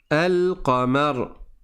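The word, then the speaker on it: القمر: Une lettre lunaire après un alif lam, c'est une lettre dans sur laquelle il n'y a pas de shad comme le et dans ce cas-là, tu vas prononcer le lem. Tu dis elka là par exemple, je sais pas si vous arrivez à lire, je vais le réécrire là. Alqamar. Donc là je prononce le lem.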